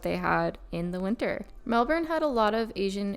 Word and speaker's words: Melbourne: streets good morning from Melbourne Melbourne Melbourne they don't say the r when they pronounce it I don't think it's day two